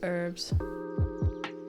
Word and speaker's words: herb: really long agreement about the correct way to pronounce herbs what I was with to be with or without the age like a herb or herb it's fair I